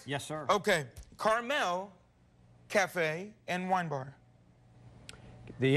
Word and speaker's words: Carmel: of this restaurant is carmel cafe and wine bar it's not the little candy at all it's like the place in california terry ryan am i correct yes sir okay carmel cafe and wine bar